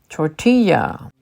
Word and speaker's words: tortilla: also a Spanish word the two L's in tortilla are pronounced as a y sound that is the way it's pronounced in Hispanic languages tortilla croissant croissant this is